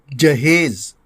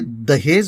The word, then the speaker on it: جہیز: ساتھ حاضر ہے، اور ہمارا آج کا لفظ ہے جہیز، جو درست ہے۔ عام طور سے دہیز بولا جاتا ہے، جو غلط ہے۔ اس کے معنی ہیں